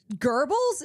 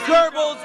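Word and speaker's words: Goebbels: Yeah, but nobody in the American public pronounces that girl. Like there's something to be said about him saying it in a way that's closer to the German pronunciation.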